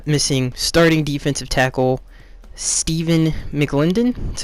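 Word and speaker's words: McLendon: listen they uh Missing starting defensive tackle stepen mclindon that's how you say his name those were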